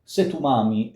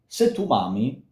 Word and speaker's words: se tu m'ami: In Italian, you would read this, se tu m'ami, se sospiri. The music, however, does se tu m'ami. So the accent is on se tu m'ami. It's not se tu m'ami, it's se tu m'ami.